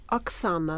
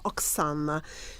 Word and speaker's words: Oksana: Oksana, like mix of ox and Anna, Oksana.